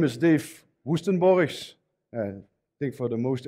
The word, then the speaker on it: Woestenborghs: say that really so my name is dave woostenboris i think for the most english speaker speaking